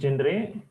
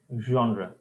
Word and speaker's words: genre: genre meaning your specialization pronounce this not as gendre genre can someone try this